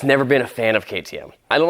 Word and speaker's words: KTM: fine the gig's up i know it's not pronounced katim i've heard of ktm it's an austrian or